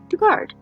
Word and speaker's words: Dugard: name is jc lee dugard or duggard why am i brain fart moment on how the last name is pronounced i've heard it so many times dugard right brain fart